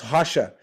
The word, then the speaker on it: Rocha: name of course is r-o-c-h-a but it's pronounced hasha because every R opening a word in the beginning of a word has a h American H sound so the H sound